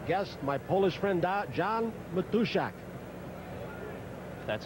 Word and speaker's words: Matuszak: Special pregame guest, my Polish friend, John Matuszak. That's how you want to pronounce it.